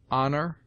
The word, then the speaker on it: honor: with a full breath, except in air, herb, ostler, honor, humble, honest, humor, and their derivatives.